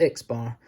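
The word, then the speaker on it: x̄: it's that we line on it said it's pronounced x-bar and it means the mean and the last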